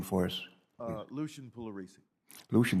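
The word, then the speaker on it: Pugliaresi: for us uh lucian polaris lucian the p is silent yes it really is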